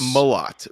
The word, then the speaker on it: Millot: It's Millot with a not E. You don't emphasize the E.